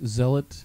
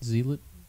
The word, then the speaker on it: Zealot: get edited out but it's Zealot and you said zelit oh sorry he can